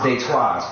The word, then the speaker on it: Detroit: If you Detroit D E T R O I T pronounced Destois, French.